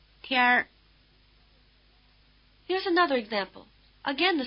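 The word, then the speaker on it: 天儿: 天天儿 Listen again and notice that the N drops out when the R is added.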